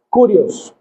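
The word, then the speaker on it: κύριος: Sin embargo, en griego, la palabra que se utiliza cuando Cristo dice que Él es el Señor es una palabra que se pronuncia Curios, que significa literalmente el amo o el dueño.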